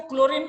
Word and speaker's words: chlorine: Okay तो यानी जो क्लोरीन में H इज साइलेंट, इसलिए उसका नाम Ca शॉर्ट फॉर्म Cl कर दिया.